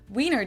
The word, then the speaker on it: Wiener: The German W is pronounced like an English V, and it usually refers to the sausage.